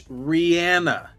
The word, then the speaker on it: Rihanna: I've just followed this there is a video from about nine years ago where Rihanna is asked how do you say your name and she explains it and says it's Rihanna now there is your